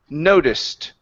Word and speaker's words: noticed: instead of noticed okay let's remove this e sound here so the word is noticed try that noticed great